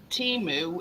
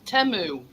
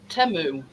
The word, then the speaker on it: Temu: know how we all referring to the thing teu it's not it's temu that's how it's pronounced only because i' seen it on telly and that's to me that's s now it's actually pronounced temu always the right so Mr Pete if you